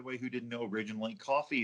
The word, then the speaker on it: Ko-fi: For people like me, by the way, who didn't know originally, coffee is not spelled like coffee.